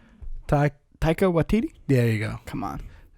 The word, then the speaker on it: Taika Waititi: Taika Waititi?